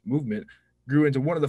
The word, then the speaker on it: MVMT: With fair prices, unexpected colors, and clean original designs, MVMT, pronounced Movement, grew into one of the fastest growing watch brands, shipping to over 160 companies across the globe.